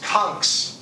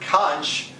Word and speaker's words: Conch: in the united states the people in key west call themselves kungs it's a mispronunciation or a different pronunciation of the word conch that you blow into or eats congeal which